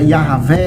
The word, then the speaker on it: Yahvé: O tetragrama sagrado, que na pronúncia original era Yahvé, né, é formado por 4 consoantes e significa eu sou o que sou ou eu serei o que serei.